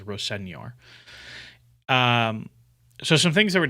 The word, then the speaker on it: Rosenior: believe he said that that's how he'd like it to be pronounced, is Rosenior.